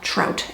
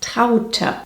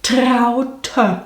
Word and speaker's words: Traute: You'd pronounce that trout, Americans, wouldn't you? Elk, wolf, trout. Hey, soon we can open our own mispronounced German names zoo. Similar to Elke, the correct way of saying this is Traute.